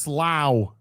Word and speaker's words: Slough: Now say Slough. Slough. It's pronounced Slough.